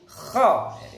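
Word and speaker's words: خ: Jadi nggak kho tapi kho. Nggak terlalu ngorok. Juga nggak hilang, seraknya nggak hilang. Nanti kalau hilang kayak ghain, gha gitu ya.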